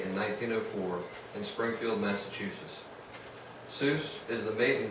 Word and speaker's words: Seuss: Seuss was born Theodore Geisel on this day in 1904 in springfield massachusetts Zeus is the maiden name of his mother Henrietta suits the correct bavarian pronunciation is Joyce the leaders of his